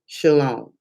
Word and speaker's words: Shailaun: So anyway, I came across this young lady at, and I want to say her name is pronounced Shailaun. I hope I'm pronouncing it right.